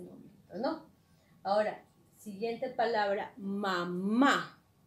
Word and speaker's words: mamá: Ahora, siguiente palabra, mamá. La palabra mamá, tenemos aquí que la segunda sílaba es la sílaba tónica, ¿no?